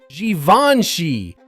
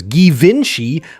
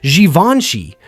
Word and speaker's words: Givenchy: Most people say it wrong as Givenchy, but the correct way in French is Givenchy. Notice how the G turns into a soft J sound and the middle is smooth.